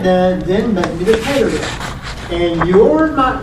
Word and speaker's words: cladogram: But it really is clay, not clad. Cladograms.